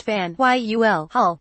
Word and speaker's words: Faneuil Hall: a history of dissent Fanueil pronounced van Yul hull completed in 1742 was